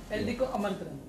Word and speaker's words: Eldeco Aamantran: Eldeco Amantran is the right word to pronounce it.